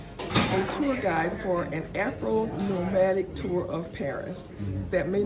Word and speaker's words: Afronomadik: So yes, you did say the name right. It's Afronomadik, but it's spelled with the K at the end.